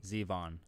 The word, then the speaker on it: Zevon: If it's a Halloween song, it's pronounced Peter Q. Zevon. Zevon. It's pronounced Zevon. Okay.